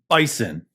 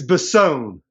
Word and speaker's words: Bisson: So the winner of this week's Thankful Thursdays is Billy Bison. or Bisson. However you pronounce it, there's 2 S's. It's Bisson. Bisson.